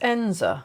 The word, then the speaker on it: Eyam: This is Eyam. I hope I pronounced that correctly because it's certainly not how it's spelled.